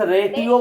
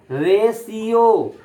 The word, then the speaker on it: ratio: एक students रेटियो बोल रहे हैं, रेटियो, रेटियो नहीं, ऐसा नहीं बोलना है, रेशियो, इसको हम बोलेंगे रेशियो। मैं लिख कर भी बताया, ये टी है, टी का मतलब यहाँ ट प्रोनाउंस नहीं हो रहा है, रेशियो। सर यस, रेडियो में सर होता है डी और सर रेशियो में होता है टी। वो सब अलग बात है बेटा। इसका इस टर्म को जो हम प्रोनाउंस करेंगे वो रेशियो बोलेंगे।